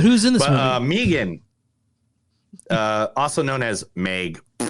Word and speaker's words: M3GAN: me three again Megan how do you pronounce it it's Megan but but I'm called